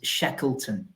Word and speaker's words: Shackleton: Surname is Shackleton. So even though it's spelt Shackleton, I would say you did pronounce it the way that it's actually spelt.